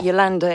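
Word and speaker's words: Jolanda: It's like Yolanda is spelled with a J, but you say it as a Y.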